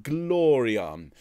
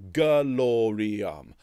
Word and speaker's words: gloriam: so when you're seeing glory arm can you can you give that an extra syllable gloriam so to da glory